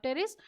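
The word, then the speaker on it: Pteris: लगा रखी है ड्राप टेरेस और ये है टेरेस की पी साइलेंट है इसमें तो हमारा आंसर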